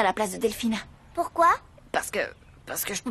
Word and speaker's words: Delfina: Fräulein Delfino, vous désirez une tasse de café? Oui, je veux bien, mais j'aimerais que vous me fassiez le plaisir de prononcer mon prénom correctement. C'est Delphina.